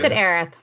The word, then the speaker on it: Aerith: right now while we're on this arathor Eris Aerith if you say Eris then Aerith never died oh yeah well that changes everything I'll be honest III fluctuate but - I know it's Aerith but yeah Eris but either the translation made areas I know